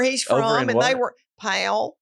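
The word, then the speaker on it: Powell: from and they were pale what is that how do you spell it uh he went to Gibbs High School pal p-o-w-e-l-l which is okay yeah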